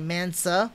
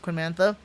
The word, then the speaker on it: Mantha: example the quinman uh quinn mantha i was gonna get mansa that's actually called pronounced mantha or like the new gun